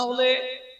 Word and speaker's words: উলু: যেমন উলু, মায়েরা বলে উলু, কিন্তু উচ্চারণটা উলু নয়, উচ্চারণ হবে হুলু, হুলু।